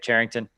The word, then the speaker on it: Charrington: Is that how you say it, Charrington? Yeah, that's correct.